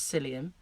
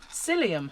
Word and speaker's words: psyllium: fine so that's um psyllium husks and it's spelt with a p i'll i'll cover the